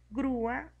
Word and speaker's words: grúa: En la vocal U le ponemos la tilde para que tenga más fuerza y al pronunciar grúa, cuando separamos las sílabas, quedan dos sílabas, grúa, y se forma un hiato acentual.